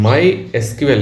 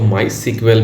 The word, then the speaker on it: MySQL: ठीक है ओके तो जो यह माय एसक्यूएल है इसको माय सीक्वेल भी प्रोनाउंस कर सकते हैं तो इसको डाउनलोड करने